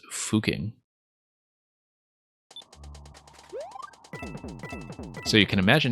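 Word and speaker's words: Fucking: place in Austria sgml well apparently the way the locals tell you you're supposed to pronounce it is fuking so you can imagine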